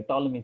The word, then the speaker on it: Ptolemy: You can read it here, Ptolemy theorem, P silent. Although in my name it isn't, but yeah. Anyways, a P is silent here and it's Ptolemy, okay?